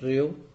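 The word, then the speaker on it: ρ: क्या प्रोनाउंस करेंगे इसको? रेओ.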